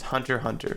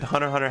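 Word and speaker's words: Hunter × Hunter: other person taking up the fifth spot is hunter hunter hunter hunter or hunter x hunter if you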